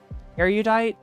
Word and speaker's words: erudite: Erudite has 3 syllables.